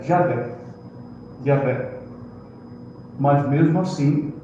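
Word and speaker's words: Yahweh: à conclusão de que a melhor, a provável, melhor maneira de pronunciar o nome de Deus é Yahé.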